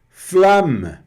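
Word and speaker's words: flamme: E o flam aqui e a pronúncia do e bem levinho no final que é chama, a chama, tá?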